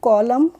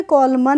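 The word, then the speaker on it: column: ठीक है ऐसे ही सीओ एल यू एम एन तो इसको क्या पढ़ेंगे कॉलम कॉलम कॉलम पढ़ेंगे कॉलमन नहीं पढ़ेंगे तो यहां पर हम एन को नहीं पढ़ेंगे ऐसे ही डी एम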